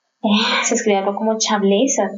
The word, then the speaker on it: Chablais: Chablais, que se escribe, es una palabra en francés, se escribe algo como Chablais, se pronuncia Chablais.